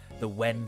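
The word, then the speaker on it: 円: But apparently old Japanese, you would actually pronounce the wen sound, so like 500 yen, wen. But then like the Portuguese somehow fucked that up and made a yen instead of when.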